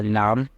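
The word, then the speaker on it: لام: इसको कहा जाता है लाम। और इसको कहा जाता है नाम जिसका उच्चारण या आवाज़, मतलब इसके प्रोनाउंसिएशन ला जैसी है।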